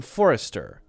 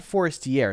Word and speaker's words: Forestier: her distress Madame Forester it's not Forester it's Forester right somebody helped me with the French pronunciation f o r s t i e r EA Madame Forester